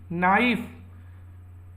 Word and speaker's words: knife: के से शुरू होता है इसकी स्पेलिंग, KNIFE नाइफ। इसको बोलते हैं तो के साइलेंट हो जाता है, नाइफ नहीं बोलते हैं, के साइलेंट हो जाता है, नाइफ बोलते हैं।